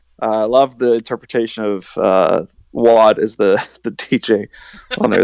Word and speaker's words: Wad: Is it Wad or Wade? I can never get that right. I've never heard it pronounced Wade before, but Wad, yeah, rhymes with God.